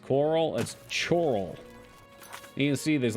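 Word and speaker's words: Chorrol: Thieves Guild up last night spectacular stupendous those pronounced Coral that's choral you see there's like five hes in it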